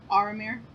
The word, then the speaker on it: Aramir: Aramir. Aramir? It's like Aragorn, but with Faramir at the end.